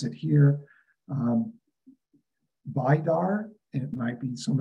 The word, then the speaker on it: Vidar: him to work understanding the archangel, and we pronounce it here, Vidar, and it might be some of you Vidar, and also the mythological god Baldur.